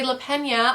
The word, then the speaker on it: Lapena: unwanted guest by Sherry lapena I think you pronounce her name La Pena that's how they said it on an audiobook but this one is